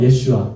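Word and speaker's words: ישוע: 없으신 예슈아를 상징하는 것 그러면 예수님의 본 발음이 예슈아라는 거 아시죠 예슈와 그렇죠 한번 해 보세요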